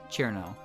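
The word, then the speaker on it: Cirno: to someone is to use the 2-syllable version of her name, Chirno. But if someone wants to give you a hard time for not using 3 syllables, then fuck them.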